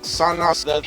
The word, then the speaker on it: Sonic: getting into the fandom it's not Sonic it's sanic the her chair no I don't think so it's actually pronounced Sonic and they store me I remember you saying